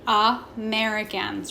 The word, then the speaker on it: Americans: okay a couple things the first one being that a is making that schwa sound it's being super lazy Americans right next that E is making that a sound mericans and lastly the S